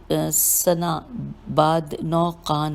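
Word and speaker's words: سناباد نوقان: شہادت پائی۔ آپ علیہ السلام کا محل شہادت سنا بعد 9 قان ہے۔ اس کی ہجے کرتے ہیں سین نون الف بے الف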